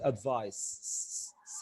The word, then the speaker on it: advice: عايز بس اقول ان advice دي noun and it's pronounced advice sound.